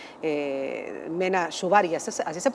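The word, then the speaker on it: Mena Suvari: Y eh Mena Shubari, así se pronuncia.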